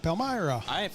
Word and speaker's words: Palmyra: Palmyra.